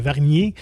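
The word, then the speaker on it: Wargnier: Vargnier, comme ça qu'on le dit. Je pense Vargnier. Ouais, c'est un W qu'on prononce comme un V.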